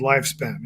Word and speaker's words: Lyfspn: So I'm a co-founder of a company called Lifespan, and it's spelled LYFSPN.